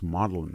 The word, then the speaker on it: Magdalen: I mean, somebody told Magdalen College is pronounced Magdalen College, but I'm not.